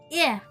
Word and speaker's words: Ea: When the vibration of vocal folds was still required to convey our thoughts and intention, ear, I believe, was the pronunciation used when referring to our people.